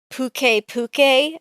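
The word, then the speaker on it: Puke-Puke: In Monster Hunter Stories 2, Naviru pronounces it Puke Puke, and I refuse to stop calling him Pukey Pukey. Oh yeah, it's Pukey Pukey. No, I'm pretty sure they say Puke Puke in World as well.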